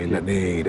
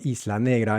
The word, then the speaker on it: Isla Negra: Vuelvo ahí la negra y luego la G de negra también se debilita mucho y es un sonido se convierte en en un sonido casi mudo, casi imperceptible. Eh, por cierto, Isla Negra es el lugar donde